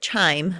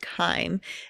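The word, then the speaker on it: chyme: call it K I know it looks like chime but it's pronounced K and it's a mixture of the food and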